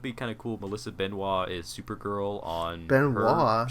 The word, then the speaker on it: Benoist: I think, I thought it was I think it's just Benoist. Benoist. That's how she Is says it really? I've heard everyone say Benoit.